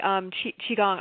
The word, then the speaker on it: Qigong: Yeah, it's actually Qigong.